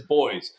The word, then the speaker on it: buoys: so there are uh boys out in the water and when I say boys I mean like buoys a lot of people say the the correct pronunciation is boys how do you spell